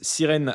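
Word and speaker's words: SYRN: Origine personnelle, Sirène, prononcée Sirène comme sirène en anglais.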